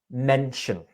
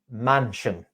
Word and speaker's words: mention: One more was the word mention. As in, I mentioned to my family, you said mansion, like a big house, mansion.